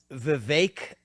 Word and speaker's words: Vivek: asking I appreciate that so it's vake like cake it rhymes of cake